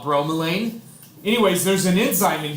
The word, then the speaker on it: bromelain: is an enzyme called bromelain or bro Malayan I've heard it pronounced both ways I call it bromelain anyways there's an enzyme